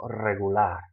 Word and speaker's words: regular: So the stress should fall on that last syllable, regular.